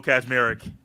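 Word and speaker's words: Kaczmarek: Kazmarek. And there is not a Z right there. It's K-A-C, but it's Kaz.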